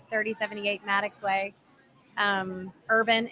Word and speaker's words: Herban: 3078 Maddox way um Urban h-e-r-b-a-n a lot of people pronounce it her band whatever you want to pronounce it as urban urban whatever just come on